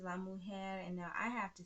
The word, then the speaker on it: mujer: pronouncing things correctly because you have got to roll your r's when you're speaking espanol okay don't be la mo hair okay okay so um